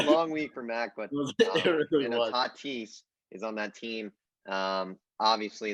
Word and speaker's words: Tatis: Padres, Tatis, the star Tatis, Fernando Tatis, as his actual name is pronounced.